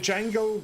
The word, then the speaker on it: Django: Well, what I remember is that Django says like the D is silent.